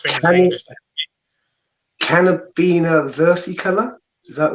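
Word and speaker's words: Caribena versicolor: We pronounce things in English. Carabina versicolor, is that right? Yeah, Carabina versicolor, yeah.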